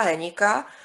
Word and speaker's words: Hénik: tam měla knížky Pavla Hénika, jo, mi říkal, že se to vyslovuje Hénik.